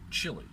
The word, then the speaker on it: Chile: But at any rate, he goes to Chile, as they like to pronounce it properly, and buys an old VW.